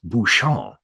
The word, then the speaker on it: Buchan: Now, while this is correct in this situation, the other correct pronunciation, because his French name is Buchan.